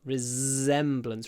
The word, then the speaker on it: resemblance: there's a striking resemblance resemblance remember it's a z resemblance resemblance uh the